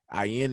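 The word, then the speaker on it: אין: And if you listen to how the word ayin is pronounced, it almost sounds like you're saying I in. which is pretty neat and a pretty cool thing when you look at it, because the symbol for IN is a closed I. So that makes sense. The difference is when you pronounce IN, it's more so with a guttural, throaty sound at the beginning.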